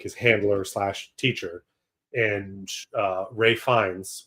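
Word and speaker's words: Ralph Fiennes: He's sent to Bruge with Brendan Gleon, who's like his handler teacher, and, uh, Ray Fines, which is spelled Ralph Vienn.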